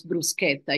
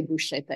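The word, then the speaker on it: bruschetta: know first of all how to pronounce brusketa you will never say brushetta again I I count on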